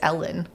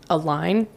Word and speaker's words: Allyn: I don't think it's Ellen. A line.